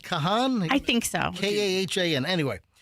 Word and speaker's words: Kahan: I don't know that it's pronounced Kahan. Well, how do you pronounce it? I think it's just Khan. Khan? I think so. It's Kahan.